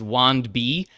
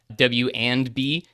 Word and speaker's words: wandb: Our library name is WANDB, W and B, the acronym for our name, but I sometimes pronounce it WANDB because we're like a database for your runs.